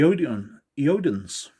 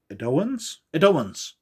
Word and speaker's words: Edoans: the Andorians, the Caitians, the Eodans, Edoans, that's the proper pronouncement, or pronunciation even. I can't even pronounce. That's proper pronunciation.